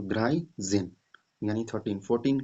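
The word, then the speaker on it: dreizehn: और 10 का क्या होता है, जेन, जेन, तो द्राई जेन, ठीक है। यहाँ देखिए 13 लिखा अभी, तो द्राई जेन यानी 13।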